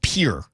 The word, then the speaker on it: Pierre: It's Pier, not Pierre. Like for my whole life, you have to learn capitals, right? I always thought it was Pierre. It's Pier. Yeah, it's here. Yeah. So, kind of one syllable.